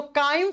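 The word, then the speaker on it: chyme: इसको चाइम नहीं बोलोगे, काइम प्रोनाउंस करते हैं हम।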